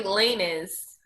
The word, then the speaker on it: Lanez: Oh, so did you hear about the Tory Lanez story? No. Oh my God. Is it Tory Lane or Tory Lanez? I think it's Lanez, girl.